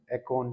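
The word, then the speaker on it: Akon: बंदा था, है ना, अकोन, एकोन, जो आप बोलना चाहते, अकोन है रियल में तो, बाकी हर किसी की प्रोनाउंसिएशन अलग होती है, उस पर बार्गनिंग नहीं कर सकते, है ना।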